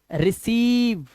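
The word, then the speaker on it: receive: के बाद आई है लेकिन पढ़ने में आपको यह समझ लेना है कि जब पहले वाला वाल होता है उसी के उच्चारण को बढ़ाना होता है तो हम इसे पढ़ेंगे रिसीव आई का कोई लेना देना नहीं है बट है सीव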